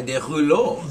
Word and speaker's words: Derulo: It's French, but it's spelled differently. My real name is actually spelled Derouleaux. Derulo.